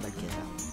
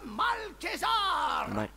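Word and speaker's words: Malchezaar: Mais que fait Malkézar ici? Désolé pour la prononciation, je crois que c'est Malkézar.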